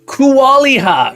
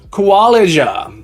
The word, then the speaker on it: Kualija: Kualiha. Is that Kualiha? Let me know if I'm pronouncing that. Kualiha. I'd like to say thank you for following me today. It rhymes with Elijah. Kualija.